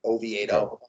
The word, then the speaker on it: Oviedo: Sonny Gray versus Oviedo, or I probably forget how to pronounce his last name. We'll just call him Johan. Yeah, Johan Oviedo. You had it pretty right. Oviedo.